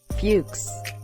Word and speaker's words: Fuchs: Minh and another kid whose last name was Fuchs pronounced with a hard u Plaxico actual name of